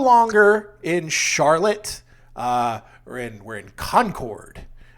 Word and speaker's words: Concord: We're in Concord. I say Concord just to piss people off, but it's Concord around here. The one in New Hampshire is Concord. But down here we say our syllables sometimes.